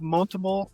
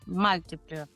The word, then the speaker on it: multiple: An associate, the lead of this migration, has decided to create learning content on the trail head platform in the form of multiple modules targeting the same content and basic Salesforce content.